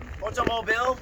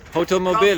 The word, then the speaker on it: Hotomobil: Hotomobil. Hotomobil. Comes from Hotelmobil.